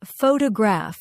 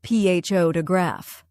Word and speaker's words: photograph: For example, some learners say photograph instead of ph to graph.